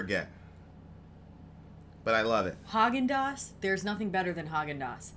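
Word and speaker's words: Häagen-Dazs: really is that high i used to pronounce it Hocking days oh I think you're wrong is your refrigerator running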